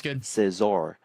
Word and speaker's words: Scizor: Like we were just missing out on all How to pronounce Scizor. Sizzor.